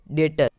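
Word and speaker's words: debtor: अब DEBTER, यानी डेटर।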